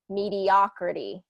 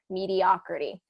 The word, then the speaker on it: mediocrity: a long o meter mediocrity changes that o to a short ah pronunciation so mediocrity and mediocre mediocrity um and he gives